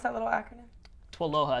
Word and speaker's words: TWLOHA: Twaloha. It's like aloha with a TW in the beginning.